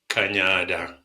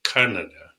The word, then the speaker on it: Kanyada: are in the city we tend to ask people to pronounce it as Canada and we we say